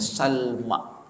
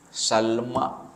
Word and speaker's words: Salma: dengan siapa Hasim berkahwin dengan seorang perempuan namanya Salma moyang Nabi yang perempuan namanya ialah Salma s